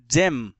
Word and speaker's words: gem: कहा था ना, जी के बाद अगर ई, आई या फिर वाई होगा तो उसे ज पढ़ते हैं, ना कि ग। ठीक है, तो यहां देखिए जी के बाद ई है ना, तो इसलिए इसका प्रोनाउंसिएशन हो जाएगा ज, तो GEM, जेम।